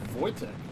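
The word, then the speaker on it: Wojtek: L21 Voytech. That is how you pronounce that.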